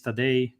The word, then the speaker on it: Tadej: So I'm a game developer at Coherence, and with me is Tadej Gregorčić, right? That's the pronunciation, Tadej?